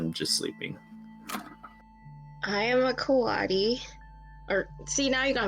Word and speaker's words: coati: is a collection of Coatis. Am I pronouncing that right? No? Are you speaking English? Coati? Lyra? Coati? I think it's Cody, as in Kotabundi.